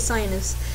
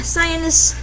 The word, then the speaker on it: Sionis: I believe that's how you say it, Sionis. S-I-A-N-I-S.